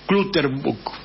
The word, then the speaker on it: Clutterbuck: que es Alan Clutterbuck, se escribe Clutterbuck, ¿sí? Se pronuncia Clutterbuck, ¿sí?